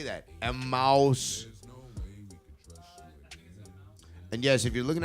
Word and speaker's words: Emmaus: Emmaus.